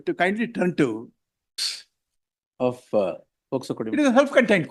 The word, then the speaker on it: POCSO: Quite often your lordship would say, listen until you say POCSO, not as POSCO.